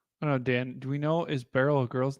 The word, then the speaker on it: Beryl: is wild Dena Serena it's barl rhymes with Merill lb lb's lb's still